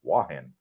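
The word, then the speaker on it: Hua Hin: wahin is is uh spelled huahin but it's pronounced by the ties wahin I lived across the street from you and jontian but I am exploring wahin for the first time I am looking forward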